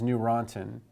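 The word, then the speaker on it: Neurontin: acid and gabapentin is new rantin and you can think of the any EU which is pronounced new as the newer antiepileptic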